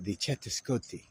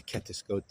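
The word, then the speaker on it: catuṣkoṭi: We need to embrace the tetralemma, the chetascoti, or the ketascoti, depends on how you pronounce it.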